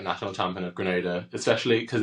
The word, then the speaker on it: Grenada: Thank you for saying Grenada because I honestly I've given up at this point. the amount of people who say Granada and for those who don't know Granada is